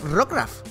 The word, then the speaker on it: Rockruff: El joven Mickey saca Rockruff. Pues vamos con el Rockruff. Vamos ahí, que he visto mucha gente decir Rockruff. Es como, ¿Rook por qué? Si es Rock de... como Roca y eso, ¿ves?